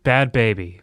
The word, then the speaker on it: Bhad Bhabie: by what's her name bad baby bad bad baby but it's spelled like with h's like 10 extra consonants so she was i